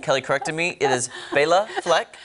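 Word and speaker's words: Béla Fleck: I mispronounced it during the commercial break, and Kelly corrected me. It is Bela Fleck. Right, and he said it was a girl. And I thought it was Bella.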